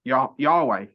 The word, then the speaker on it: Yahweh: word Yod He Vahe, so it's Yah, Ha, Wa, Ha, which is Yahweh.